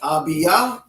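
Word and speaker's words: Abiyah: them hebraically okay so if you're accustomed to hearing these names in english with that eye no that's not the way it's done okay so we have uh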